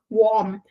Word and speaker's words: warm: The word warm, it should be the the R sound here.